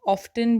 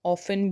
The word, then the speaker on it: often: OFTEN, इसे हम ऑफ्टन भी बोलते हैं, इसे हम ऑफन भी बोलते हैं, दोनों प्रोनाउंसिएशन ठीक होंगी, ऑफ्टन या ऑफन।